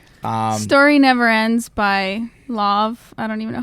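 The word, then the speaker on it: Lauv: when we were young okay we fell in love that's awesome when anyways i can't sing it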